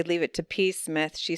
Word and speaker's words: Psmith: say leave it to peace Smith she says leave it to P Smith anyway the p is silent she got it to